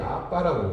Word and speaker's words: 아바: 하나님을 향해서 아바. 그 이스라엘 현지에서 들으니까 애들이 아빠라고 그래요. 이 된발음이 나기가 쉬운 말이거든요.